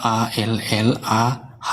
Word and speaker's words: Allah: Iya, baca tulisannya A-L-L-A-H. Harus Bacanya membacanya Allah. dengan kaidah bahasa aslinya dong.